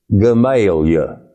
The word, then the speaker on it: Gamaliel: Missouri, Jeep, Arkansas, and a town whose name is spelled Gamaliel and is pronounced by the natives Gamaliel.